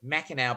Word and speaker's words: Mackinac: a really weird mac it's called mackinaw but it's spelt mackinac anyway but it is